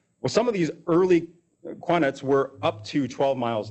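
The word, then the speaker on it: qanat: Around 700 BCE, we start to see technology pop up in what would be some of the early quartzes. Sorry, I'm pronouncing that wrong. Quanets in modern day Iran.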